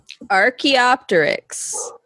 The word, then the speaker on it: Archaeopteryx: pronounce it because i i think it's a silent p but i'm not sure but i also think the ch is a hard k sound archaeopteryx rk optomix yes excellent